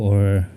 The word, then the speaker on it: を: we will uh discuss on the these four particles w w NE e this is wo W but is commonly pronounced as o e sounds like e